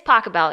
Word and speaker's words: Pachelbel: by a German guy who I'm going to mispronounce his name. Johann something? Oh, Pachelbel. Yeah, but they do like a... Pachelbel. It's Pachelbel.